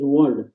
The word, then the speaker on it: wand: frog there you go good pronunciation actually is one am i right one like harry potter movie i am talking about w-a-n-d one one magic stick wand yes wand w-a-n-d so like a magic stick so like i